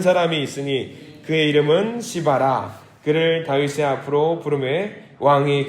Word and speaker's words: 시바: 자 이름을 잊을 수가 없을 겁니다 이름이 뭐죠 발음을 잘하셔야 됩니다 시바라 사람이래요 시바 예 외국에는 우리나라이 정서가 좀 다른